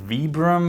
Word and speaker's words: Vibram: the vibram mini lug i'm technically actually supposed to be pronouncing it vibram uh because it's named after the founder uh vitali brahmani but i slip up